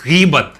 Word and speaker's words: غیبت: اور وہ جو جس کی ہم بات کر رہے ہیں اس کا جو کریکٹ ایکسینٹ ہے یا بالکل ایک دم پروپر پروننسیشن ہے، اس کا تلفظ ہے غیبت.